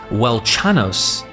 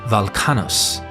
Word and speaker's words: Velchanos: Here, the W in the name is pronounced as a V, and the ch c h is pronounced as k. So, Welchanos should be Velchanos and has thus been